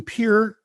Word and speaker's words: Pierre: And my favorite was in Pierre, South Dakota. See, I can pronounce that town correctly because I was there.